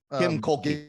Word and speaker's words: Kim Mulkey: I always Kim Mulkey.